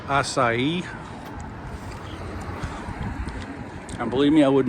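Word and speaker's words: açaí: That is called acai.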